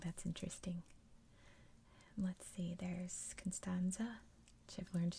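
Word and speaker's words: Constanța: Constanza is how you say that, a very big port city.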